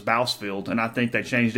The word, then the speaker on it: Bousfield: his name from anybody everybody just said Boz filled for many years and even the PA announcer and it was bousfield and I think they